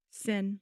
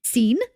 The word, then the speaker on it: Sean: Yeah, he he pronounced it wrong is what he did cuz it's s e an which is Sean.